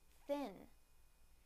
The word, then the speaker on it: thin: First, the n sound in the word thin, thin, thin.